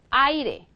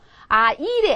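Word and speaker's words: aire: 강하게 읽 읽어야 되겠어요 원래 강한 강모음 그렇죠 얘를 강하게 읽어야 되죠 아이레 이렇게 되는 거죠 그렇죠 아이레 이렇게 되겠죠 그죠 아이래 아니고요 아이레 이렇게 되죠 뭐 예를 들어서 이런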